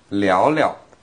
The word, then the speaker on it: 聊聊: Now like often when we have the verb repeated like that, the second verb...is pronounced in the light tone, the neutral tone, 聊聊。